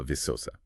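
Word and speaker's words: Viçosa: That's pronounced uh visosa.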